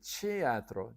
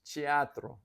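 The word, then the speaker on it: teatro: theatro oh they and they pronounce it chiatro chiatro I would have thought that that t would be hard since it was the beginning of a word but they say no it's chiatro chiatro which is the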